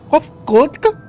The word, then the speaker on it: Kopfgudg: As for nomenclature to address my individual person, I believe it would be pronounced Kopfgudg. Yes, Kopfgudg of the Ya.